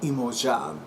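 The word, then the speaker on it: Iemanjá: New Year's Eve celebrations in Brazil um honoring imoa imoa is the Portuguese pronunciation of Yaya uh Yaya as well as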